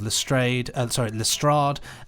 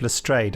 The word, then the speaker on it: Lestrade: Benji will fill out the ancillary roles of Lestrade, Mrs.